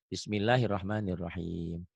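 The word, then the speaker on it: بسم الله الرحمن الرحيم: ini rnya tetap bismillahirrahmanir Ini a-nya ganti o ro rahim tuh hanya H kecil ya Bismillahirahmanirahim nah BM tadi jadi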